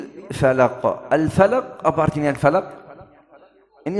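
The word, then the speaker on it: الفلق: Juga huruf qaf ini huruf yang qalqalah. Al falaq, kalau kita tidak kasih qalqalah, tidak sempurna.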